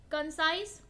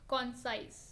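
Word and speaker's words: concise: अच्छा, ये प्रोनाउंसिएशन में तो कंसाइज बोलते हैं, लेकिन अब देखें तो कॉन्साइज, बिल्कुल वैसे मत ले जाइएगा कि हाँ ऐसे ही बोलेंगे, लेकिन प्रोनाउंसिएशन करेक्ट ये है, लेकिन अब समझने के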